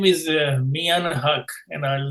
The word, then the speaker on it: Mian: My name is Mian Haq, and I'll spell it for you.